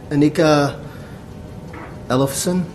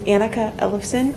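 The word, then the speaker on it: Annika Ellefson: next speaker is Anika Anika Ellefson and I probably slaughtered your name again I apologize my name is anneka Ellison I don't blame you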